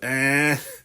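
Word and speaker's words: hein: But the H is silent, and the I-N just kind of is a eh.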